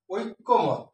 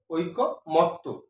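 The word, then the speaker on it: ঐকমত্য: ঐক্যমত, ঐক্যমত আছে, এটা ভুল আছে, এটা সঠিক উচ্চারণ আছে ঐক্যমত্ত, ঐক্যমত্ত, ঐক্যমত্ত। অর্থাৎ এই প্রথম কয়ের সাথে জ ফলাটা ছিল এটি ডান পাশে চলে যায়।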